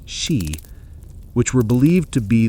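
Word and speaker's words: Sídhe: They could be ancient burial mounds known in Ireland as she pronounced she, which were believed to be the underground palaces of the Tuata Danan after they were driven from the surface.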